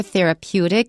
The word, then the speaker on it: therapeutic: And the noun for therapeutic is therapy. Watch out for the stress. Therapy stress is on the first syllable. Therapeutic, the stress is on the second to the last syllable.